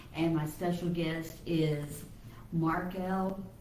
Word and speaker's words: Marquiel: my special guest is Marquiel. I always want to say Marquiel, and it's Marquiel. Marquiel, like a bird.